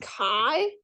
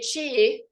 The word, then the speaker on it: chi: This is pronounced chi. Okay. So don't say chi, because then people will think you don't know what you're talking about.